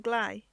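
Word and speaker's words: gley: tinge such a layer is called a clay the word rhymes with Clay Horizon there is no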